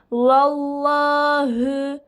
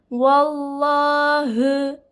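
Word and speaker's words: وَاللَّهِ: önceki harfin harekesi Üstün Üstün ise ne demiştim kalın okunacak demiştim bakın kalemimiz kalın yapılmış nasıl söylüyorum vallahü vallahü bu şekilde bakıyorum Allah lafzından önceki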